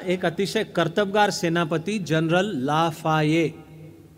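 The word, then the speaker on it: Lafayette: कर्तबगार सेनापती general लाफाये spelling करताना ते एल A double F A double Y e double T काय काहीतरी होतं फ्रेंच शब्दांच्या स्पेलिंगच्या फंदात शहाण्या माणसांनी पडू नये पण स्पेलिंग नुसार उच्चार पण करण्याच्या फंदात पडू नये त्यांनी आधी त्याचा उच्चार काय असतो जाणून घ्यावा या सेनापतीच्या नावाचा उच्चार जनरल लाफाये त्याच्या नेतृत्वाखाली सैन्य प्रत्यक्ष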